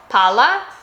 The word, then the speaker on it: pala: which I showed earlier the single l pala and pala. Do you see how I'm holding the double a little bit longer? That's really essential here. Listen again. Pala shovel pala ball. Native speakers notice this immediately even if your accent is really good because they are two totally separate words.